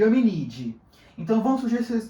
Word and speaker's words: Hominidae: Se escreve Pongidae, se escreve Hominidae, mas se lê Pongide e Hominide.